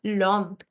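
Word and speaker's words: l'homme: the man the man you will not say l instead this will become LOM because the H was already silent as it is given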